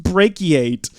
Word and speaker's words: brachiate: me why though we're not even saying it correctly it's pronounced brachiate it's something that monkeys do in trees why it's a terrible